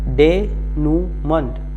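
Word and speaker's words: denouement: तो आप इस तरह से याद करें डेन्यूमेंट। तो इस मन को जो राइट प्रोनाउंसिएशन है उसको आप मेंट की तरह से याद करें।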